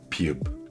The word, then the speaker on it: ㅂ: Piup se prononce entre B et P, léger, sans souffle, sans tension. Les lèvres se ferment doucement et s'ouvrent. Pas de force, pas d'énergie excessive, juste un son neutre.